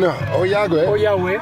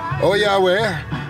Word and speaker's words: Ollagüe: So, we are in Oyagwe. Oyagwe. Osvaldo has the better pronunciation.